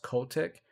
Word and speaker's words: Kotick: Bobby, I believe his name is pronounced Kotick, is still to stay